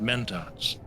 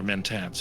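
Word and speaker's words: Mentat: And that's why in the Dune universe, you have humans who think like machines and they're called menats or menntats depending on how you pronounce it.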